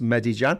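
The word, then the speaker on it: Medellín: there's a bugatta there there's medijan that's how that's pronounced medijan and then up uh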